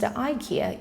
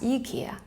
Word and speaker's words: IKEA: the Swedish furniture giant, IKEA is commonly pronounced IKEA in America, but actually it should be referred to as IKEA. Just remember that the version you should use depends on where you are.